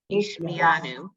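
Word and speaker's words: השמיענו: The accent generally goes on the next to the last syllable. Hishmianu.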